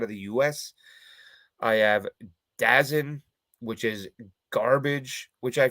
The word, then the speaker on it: DAZN: I have Dazn, which is garbage, which I found out today is apparently pronounced DAZN, which makes sense because they're atrocious.